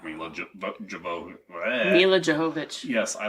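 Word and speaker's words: Jovovich: really like mil JV mil jovic yes I like her I just like her they pronounce it all it's mil yovich movich I've heard her you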